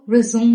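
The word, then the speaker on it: résumé: confuse ဖြစ်လေ့ရှိတဲ့စကားလုံးမှာသူကတော့ RES သူ့မှာ verb အနေနဲ့ဆိုလို့ရှိရင်အဓိပ္ပာယ်တစ်မျိုး၊နောက်အနေနဲ့ဆိုရင်အဓိပ္ပာယ်တစ်မျိုးရှိပါတယ်။ verb အနေနဲ့ဆိုရင်တော့ဆက်လုပ်တယ်ဆိုတဲ့အဓိပ္ပာယ်ဖြစ်ပါတယ်။ဒါဆိုရင်တော့သူ့ကို resume လို့ထွက်ပါတယ်။ please resume your work မင်းအလုပ်ကိုဆက်လုပ်ပါ။ resume ဒါပေမဲ့နောက်အနေနဲ့ဆိုရင်တော့သူကစီဖောင်းလိုမျိုးကိုပြောချင်တာပါ။ အဲ့ခါကြရင်သူ့ရဲ့အသံထွက်က resume.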